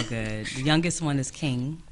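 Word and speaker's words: Qing: The youngest one is King. It's spelled with a Q, Q-I-N-G.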